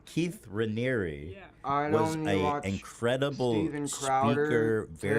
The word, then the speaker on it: Raniere: time and time again in these documentaries is that Keith Ramirez was like a very. You know that it's Ranieri, right? I don't care. Yeah, apparently I've been saying it wrong. Keith Raniere was an incredible Steven